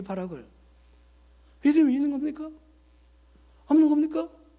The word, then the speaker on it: 바락: 벼룩 아닙니다. 우리 목사님 발음이 잘못되면 이게 바락이 벼룩됩니다. 바락. 자, 그때의 바락이 하는 말이 여러분 들어보실까요?